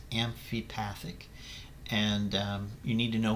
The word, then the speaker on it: amphipathic: difference between hydrophobic hydrophilic and amphipathic that is pronounced amphipathic and you need to know what those three